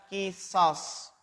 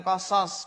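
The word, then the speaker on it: قصاص: Makna dari an-nafsu bin nafsi adalah kisos, bukan kosos. Kalau kosos itu cerita.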